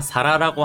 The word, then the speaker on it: 皿: 이 그름 명자는 훈독밖에 없으니까 사라라고 하는 발음을 잘 기억해 주시길 바랍니다.